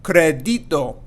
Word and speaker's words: crédito: We're going to put more stress on that E there. And we're not going to say crédito or crédito.